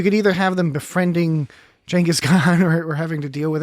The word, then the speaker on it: Genghis Khan: Well, like some kind of encounter with Genghis Khan, perhaps, or Genghis Khan, depending on your pronunciation. Genghis Khan, I think, is the actual.